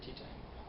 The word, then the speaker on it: Teatime: Teatime? It's pronounced tea time, sir. No, it's Teatime.